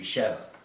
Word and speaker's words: Shiva: pronunciations for that, but they pronounce it Shiva in the film. So, because a friend of mine says it should be Sheva. And I always learned that it was Shiva.